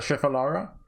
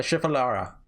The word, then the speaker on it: shifara: You want a shifalara? Hey, wait. I spotted a planter. I seen a certain plant lined up in front of the others at the florest. A shifara. That's how you say it.